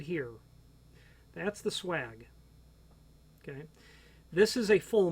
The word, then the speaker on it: swage: part of a hinge called what i pronounced it is called the swag some people call it the swage SWA GE it is basically how the